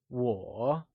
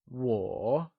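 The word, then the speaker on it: 我: I I or me translates to war and it is pronounced using a falling rising tone let's try and say whoa once again it is said with the falling rising tone also known as the third tone like war great let's move on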